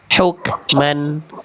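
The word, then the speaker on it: حكمًا: Jangan ada huk jangan ada tapi cukup percikan aja. Huk hukman. Nah, ya. Jangan ada e-nya. Karena kaf tidak punya sifat qalqalah.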